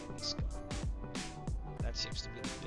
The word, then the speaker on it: Jalisco: This is Jalisco. I think I said it wrong too. It's Jalisco.